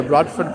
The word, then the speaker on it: Bradford: I'm going to say Bradford. Oh, no. It's Brad Ford. If anything here, it's Brad Ford. The real pronunciation of it.